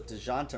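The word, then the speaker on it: Dejounte: murray de jeanta murray someone said it was dijanta murray yesterday i think that's i think that person was correct i've just been saying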